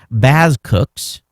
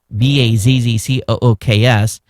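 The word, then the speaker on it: BazQux: It's pronounced Baz Cooks. B A Z C O O Ks.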